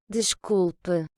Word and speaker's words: desculpe: Desculpe. Donc avec le S qui va se prononcer ch, parce qu'il est devant une consonne.